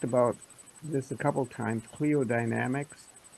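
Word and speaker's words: Cliodynamics: Cleodynamics Right.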